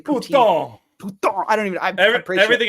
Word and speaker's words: poutine: But you're saying it wrong. It's poutine. You can't say poutine.